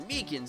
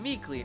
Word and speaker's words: Meekins: grateful for it actually officer meekins at the danger center told us ah the poor little duke doggy poor guy i keep getting his name wrong calling him meekly oh equally reminds me